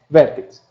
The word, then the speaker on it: VRTX: é o vértex né se escreve brtx mas se pronuncia vértex o resumo é é